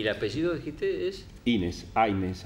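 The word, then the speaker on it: Hynes: Aynes, aparece en algunos documentos. H-Y-N-E-S, o Aynes con la A, pero viste cómo se pronunciaba, a veces lo escribían.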